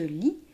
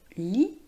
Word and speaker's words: lit: Dans la phrase « Il fume dans son lit », on ne dit pas le son « t » de lit, car le mot « lit » L-I-T se termine par une consonne, donc on ne la prononce pas.